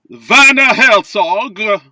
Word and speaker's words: Werner Herzog: We got to do that Germanic pronunciation. Werner Herzog. Like flawless.